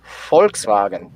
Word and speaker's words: Volkswagen: well i'll ask my my german friend to pronounce this for us volkswagen yeah so of course um you know the